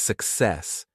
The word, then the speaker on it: success: The stress is on the second syllable.